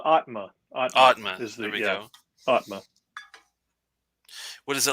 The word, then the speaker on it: Aatma: going to be the i guess you pronounce it atama or atma it's uh it's uh atma atma what is it